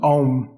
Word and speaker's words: Om: 3 parts, A, U, Say A, U, Om.